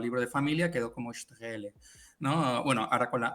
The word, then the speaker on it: Straehle: En alemán es Strele, pero no te preocupes. Es decir, si me dicen Strele o Straele, me giro.